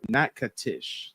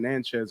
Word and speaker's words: Natchitoches: So my grandfather was from Natchitoches. Thank you. Yeah, I was saying Natchez or some weird shit, Southern breeze. My bad. I was butchering it.